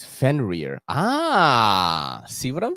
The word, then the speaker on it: Fenrir: We got YouTube pronunciation lady says Fenrir.